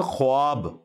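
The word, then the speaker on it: خواب: हम लिखते हैं ना ख्वाब ख वा अलिफ और बा खवाब लिखा जाता है लेकिन पढ़ने में खवाब होता है यानी वाव साइलेंट है यह पढ़ा कैसे जाएगा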